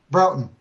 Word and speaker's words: Broughton: Broughton.